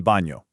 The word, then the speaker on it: baño: Also, pay attention to that little wavy line over the letter N. That is called a tilde, and it creates a very distinct nye sound. That's exactly what gives baño its unique and essential pronunciation.